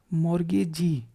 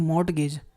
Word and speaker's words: mortgage: उसको हम बंधकदार कहेंगे मोरगेजी ठीक है इसमें कोई लोग पढ़ते हैं मॉर्टगेज इसमें टी साइलेंट कर दो भाई ठीक है तो मॉर्टगेज नहीं बोलते हैं मॉर्गेज पढ़ते हैं इसको ठीक है?